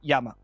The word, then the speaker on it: llama: you don't know in in spanish lama right it's spelled l-l-a-m-a right yama right yeah and uh it